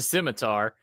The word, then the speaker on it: scimitar: my number third it's is that actually how you pronounce it that is how you pronounce it okay so I didn't know probably got an accent behind it but it is a scimitar it's the one it's